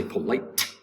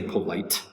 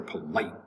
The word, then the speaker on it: polite: syllable light polite polite the t disappears somewhat into the mouth you don't say polite you can say polite but in american english we the tea will somewhat disappear polite polite it's very polite of